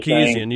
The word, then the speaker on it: Sarkisian: And then they bring in Steve Sarkisian, or how you pronounce his name. Sarkisian, yes.